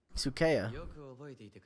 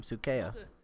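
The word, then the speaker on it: Sukea: I mean, I think Kakashi's guy is equally as freaky, but Sukeya. That's how you say his name. Sukeya.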